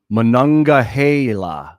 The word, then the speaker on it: Monongahela: Monongahela, that's how you say it.